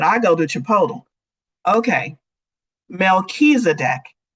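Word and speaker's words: Melchizedek: go to Chipotle okay melchisedek is how you say it melchisedec is a high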